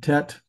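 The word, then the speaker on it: ט: And then tet, T sound.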